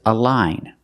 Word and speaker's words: align: exception this word is a line so it's following the rule the GN at the end has a silent G and you have the long I sound a line a line